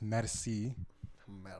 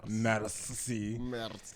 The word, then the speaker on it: Mercii: So my name is pronounced MERCII. MERCII. It's French for thank you.